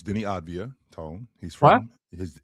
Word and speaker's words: Avdija: Deni It's Deni Avdija. That's the way it's pronounced. Deni Avdija? It's spelled, to your point, the way it's spelled. That's the way it's spelled, but it's the way it's pronounced is Deni Avdija.